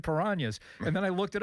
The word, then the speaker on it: Piranhas: Then Bill, you know, and Hillgrove pronounced them. I'm going like, why is he saying Piranas?